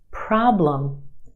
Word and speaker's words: problem: Two syllables in this word. Our first syllable is emphasized. The problem is stretched and emphasized in the first syllable. Our second syllable is where you have your schwa, lum.